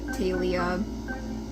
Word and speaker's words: Thalia: Next up is Thalia, Talia. Don't. I've mentioned this on my Tumblr before. Nobody knows how it's pronounced. I'm gonna say Thalia, because that's how the guy who narrated the Percy Jackson audiobooks pronounced it.